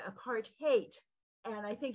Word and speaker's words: apartheid: who informed us that the correct pronunciation is not apartate aparte but a part haate and I think it's